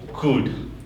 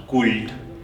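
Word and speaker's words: could: मुनि भएन just walk then कुड नट कुल्ड है सुल्ड भएन कुल्ड भएन कुड भयो जस्ट कुड है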